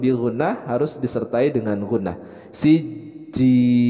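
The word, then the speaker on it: سجيل: harus disertai dengan ghunnah siji ada penekanan dalam huruf Jim karena ini bertasydid tapi kita akan baca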